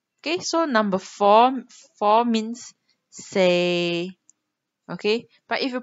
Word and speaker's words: 四: Okay, so number four means say. Okay, but if you pronounce it wrong, like say, okay, say actually